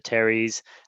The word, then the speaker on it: teres: have that as well it's not bicep it's pronounced teres but let's not go there but one of